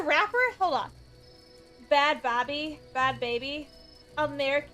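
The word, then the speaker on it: Bhad Bhabie: Bad baby. America.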